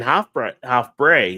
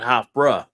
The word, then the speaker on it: Hofbräu: I never knew what an A sound was supposed to be, but they kept saying Hofbräu, not Hofbräu. So it was kind of interesting to actually watch that.